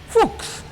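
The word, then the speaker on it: Fuchs: you see a guess hooks so it sounds a lot like a rude word you know but it's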